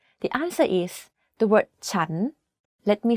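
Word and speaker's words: ฉัน: sentence has different sounds the word chan is pronounced first at a lower pitch than a sense to perfect this tone think about when you ask a question in English this turnone is quite similar to that the question for this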